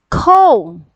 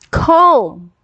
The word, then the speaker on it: comb: This is comb. Comb. Comb, we have the O here sounds long sound. It's O. O. K-O-M-B. Comb. Comb. Okay? So the sound of O here is a long O sound.